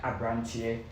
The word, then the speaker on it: Abrante: Abrante. Yes. Abrante. It's the pronunciation is Abrante, but the spelling is like Abrante, like Abrante.